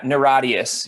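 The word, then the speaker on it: NIRATIAS: it's a nia terrorist is that how you pronounce it i know it's an acronym yeah yeah naradius yeah okay i mean that's how we say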